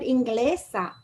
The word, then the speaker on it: inglesa: Same thing with inglesa. Natural stress is on the gle and the actual stress is the same place. You do not need an accent mark.